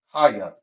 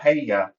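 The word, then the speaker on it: הָיָה: Haya. That's how it's pronounced right here. Ha-ya. Ha-ya. Okay? It's not hey-ya, it's ha-ya.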